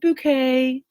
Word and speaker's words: Bucket: And even though their last name is spelled Bucket, Bucket, she always tells everybody it's pronounced bouquet in her very upper English voice.